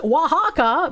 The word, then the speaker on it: Oaxaca: It's pronounced Oaxaca, but spelled Oaxaca.